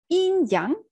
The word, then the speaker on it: yin yang: how we pronounce it in young so it's not really yin it's more like in young that's when our opinion